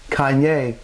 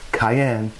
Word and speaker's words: cayenne: I did not say Kanye. I said cayenne.